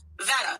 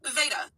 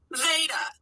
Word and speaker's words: Veda: And she has definitely said on more than one occasion her name is pronounced with a long A. Veda.